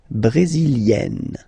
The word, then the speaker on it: brésilienne: Le Brésil, brésilien, yin, brésilien, like we had for canadien, brésilien, feminine form, brésilienne, yen, brésilienne. Okay.